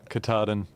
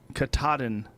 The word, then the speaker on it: Katahdin: Katahdin. Katahdin, Maine, 2,108.5 miles.